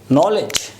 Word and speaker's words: knowledge: Here, when we pronounce the word knowledge, how many sounds? Let me phonemically transcribe this word. It's N, O, L, E and J. There are 5 sounds.